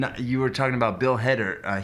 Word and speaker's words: Hader: It's funny you said that, because you were talking about Bill Hader. Heater?